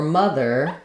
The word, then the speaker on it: mother: the unstressed syllable so for mother we're going to have the the and the r mother the um so I don't want um uh any sort of length there because my M syllable that's where I'm going to have more of a clear vow and the the is really quite reduced mother mother father